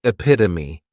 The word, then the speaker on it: epitome: Next is epitome. And this noun has four syllables and the stress is on that second syllable.